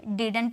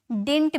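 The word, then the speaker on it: didn't: डिड नॉट का contraction, इसे हम डिडंट भी बोल सकते हैं या तो हम इसे डिंट भी बोल सकते हैं, ठीक है। इसकी दोनों प्रोनाउंसिएशन की जाती है।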